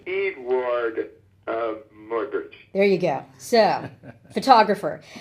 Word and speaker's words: Muybridge: So it's Edward Muybridge.